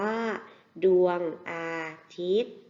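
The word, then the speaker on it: ดวงอาทิตย์: สว่าง ใน ตัว เอง ดวง อาทิตย์ มี ยอ ยักษ์ การันต์ นะ คะ อ่าน ว่า ดวง อาทิตย์ เรา มา ฝึก อ่าน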